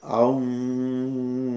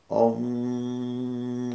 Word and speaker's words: Aum: Así que cuando queremos armonizar los sonidos en nuestra persona, solo decimos Aum, A-U-M, que al pronunciarlo se oye como si fuera Om, Om, O-M.